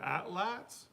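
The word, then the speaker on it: atlatl: gosh her with the atlas oh yeah is that not adolatal uh it's a na what word from the aztec language it's atla that's how you pronounce it and so she made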